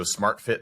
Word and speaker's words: SMRTFT: It's spelled SMRTFT, so SmartFit, like abbreviated, but it's the Nuobell.